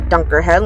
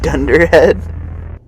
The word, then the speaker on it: dunderhead: As even a dunker head like me, a dunder head. What did I say? No, you said it wrong. But it's like it's a dunderhead.